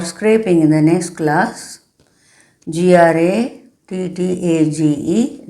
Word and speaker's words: grattage: g r a t t a g e, that is the spelling, but pronounce as grattage in the next class.